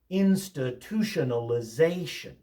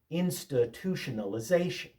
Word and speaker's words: institutionalization: Institutionalization. Institutionalization. Stress tells you more about how to pronounce a word sometimes than spelling does.